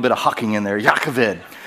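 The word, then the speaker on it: Jochebed: no Googling so it's pronounced it goes It's pronounced jakaved jakaved you have to get a little bit of Hocking in there yakovid djokabed is the way you might see it on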